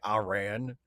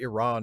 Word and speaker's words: Iran: I used to say Iran, so don't feel too bad. But, you know, once I learned that actually Iran is the preferred pronunciation, like, okay, I'll say it that way.